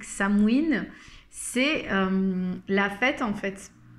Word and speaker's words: Samhain: Alors Samin, ou plutôt prononcé à la manière celtique Samhain, c'est la fête en